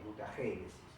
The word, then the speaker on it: mutagénesis: Y otra subdivisión de la genética también que es muy importante es la mutagénesis, con acento en la E, mutagénesis.